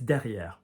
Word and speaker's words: derrière: Because there's no, it's because the ER, like I said, ER, ES, ET, EZ often go higher, so it's derrière, all right? And you're pronouncing the R there, derrière, because it's not